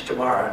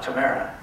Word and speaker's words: Tamara: here listen to me the name is tomorrow not tamara i'd like to pronounce it correctly she was uh she